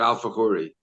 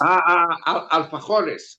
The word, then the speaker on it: alfajores: I didn't understand the word alfajori. Okay, it's that Argentinian cookie that you make that is so delicious. Alfajores. Okay.